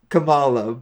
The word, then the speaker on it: Kamala: I'm saying wrong as per the dad it's Camala but you're thinking of Kamala Harris okay listen